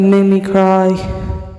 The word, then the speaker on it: mimicry: The incident was a mimicry of legit incident with Hart and mimicry. What did I say? Mimicry? Mimicry. That's how you say it. Not mimicry. Mimicry.